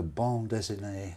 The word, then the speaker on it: bande dessinée: The bande dessinée. Bande dessinée. It's very easy to mispronounce it into something terrible, like a tattooed erection, isn't it? Have I said it right? I think you have, yes.